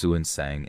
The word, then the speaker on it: Xuanzang: Xuanzang, pronounced Suansang in older texts, was not yet the legendary traveler he would become.